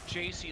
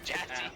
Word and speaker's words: Jassy: I imagine he's like, oh, it's pronounced JC. Like, no, you have ass in your name. It's ass. Jassy.